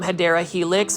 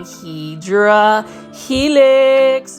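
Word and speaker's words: Hedera helix: want to say it the correct way to say it is hadera Helix for those that are new to the channel I mispronounce it by saying hedra Helix because it is a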